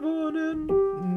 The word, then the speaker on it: wohnen: Just hum the N. And accent on the vo, but quite a lot less on the n.